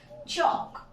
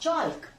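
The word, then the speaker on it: chalk: ठीक पहले एल है सो the pronunciation is चॉक नॉट चॉक you could have been understood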